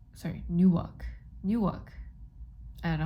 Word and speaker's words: Newark: is at 9 45 a.m tomorrow but it's a new walk sorry Newark Newark I know how to pronounce it but you know what I mean